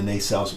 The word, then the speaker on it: nacelle: secondary hull and the nacelles. What do you refer to them as? The nacelle, with the emphasis on the second syllable.